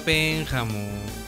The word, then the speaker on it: Pénjamo: La regla básica indica que todas las palabras cuya fuerza se encuentre en la antepenúltima sílaba, es decir, las esdrújulas, llevan siempre acento prosódico, gráfico o tilde.